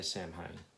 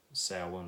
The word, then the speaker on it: Samhain: to pronounce this properly I say Samhain and a lot of people say somehow but I know it's Gaelic and it's supposed to be Sal one or so on or I don't know